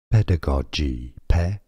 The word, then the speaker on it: pedagogy: British English pronunciation pedagogy stress on the first syllable American English pedagogy British